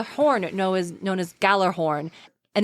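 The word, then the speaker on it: Gjallarhorn: he has a horn know as known as Galler horn and its blast can be heard in all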